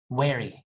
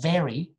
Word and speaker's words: very: the problem but then i started saying things like wary like instead of very very i would say wary sometimes because you get